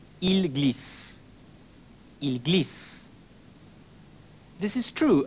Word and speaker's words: ils glissent: Ils glissent. They slip. Though the written form is different, you will notice it's pronounced the same as the singular il form. Ils glissent.